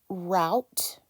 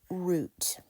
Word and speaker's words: route: little bit about that the E is silent we don't hear the E and the O and the U are stuck together they're functioning as one vowel and this can be pronounced as route or you can pronounce